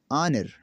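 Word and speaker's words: honour: कैसे साइलेंट होता है? आइए मैं पढ़ के दिखाता हूँ आप लोगों को। आवर घंटा, ऑनर इज़्ज़त, ऑनेस्ट ईमानदार, 10 इस तरह।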